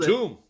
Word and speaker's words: Batum: the Sixers no embiid no Maxi no uh Batum I'm going to say it wrong did I say it right right nailed Batum all right uh studing yeah been really brushing